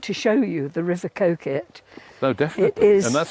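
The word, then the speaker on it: Coquet: I do want to show you the river Coit oh definitely and that's spelled c o q u u e t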